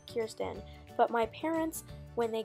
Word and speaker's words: Kirsten: to address that I know her name is pronounced Kirsten but my parents when they got me her in kindergarten pronounced it Kirsten so I always pronounced it Kirsten and not Kirsten and so I'm going to continue to do